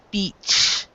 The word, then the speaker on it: beach: not try to make sure that the EA is the e sound beach beach beach beach beach yeah okay